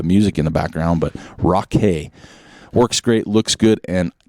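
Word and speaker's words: Rockay: gonna say rock cakes it's rock r-o-c-k-a-y so it's not i'm not gonna pronounce it rocky right and hear the music in the background but rock hay works great looks good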